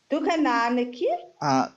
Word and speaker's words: దుకాణానికి: దుకాణానికి కా has long vowel sound అండి. So you need to say like this. దుకాణానికి.